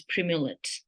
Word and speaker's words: Primolut: The third most important prescription medication that you need to carry is Primulet. I will spell it out for you.